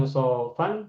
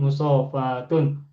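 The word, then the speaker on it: مصافاة: Nah, yang betul bukan musofan tetapi musofatun.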